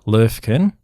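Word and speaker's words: Löwchen: it's uh it's called the well it's proper pronunciation is the lurkin lurkin lurkin which is means little lion dog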